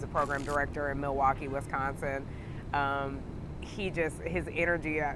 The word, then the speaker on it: Wisconsin: go to milwaukee where i didn't even pronounce wisconsin right i called it wisconsin somewhere in wisconsin it's supposed to be wisconsin and he used to